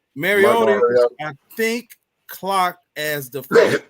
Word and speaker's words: Mariota: Mariotti? Is that how you pronounce it? Mariota.